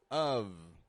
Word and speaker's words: of: followed by a vowel we're pronouncing of of we're pronouncing the V one of ours that's